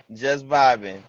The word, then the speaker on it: Just X Vibing: Yeah, the X is silent. That we we don't pronounce the X. Just vibing.